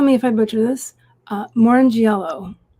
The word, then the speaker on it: Morrongiello: Morrongiello. Right. Yeah, there you go. Oh, yeah. I've had my name butchered, and I get it.